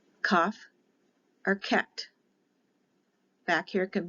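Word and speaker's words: Kaph: k not a c when the dot is inside of it it is a hard sound for k cuff or ket back here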